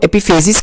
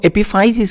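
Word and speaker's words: epiphysis: तो आप किसी तरीके से भी इसकी प्रोनाउंसिएशन कर सकते हैं। इसी तरह ये एपिफाइसिस है, कुछ लोग इसको एपिफेजिस कहते हैं, कुछ लोग इसको एपिफाइसिस कहते हैं।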